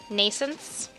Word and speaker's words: nascence: Nascence. There we go, that's better. This also sounds weird, though. With a silent T.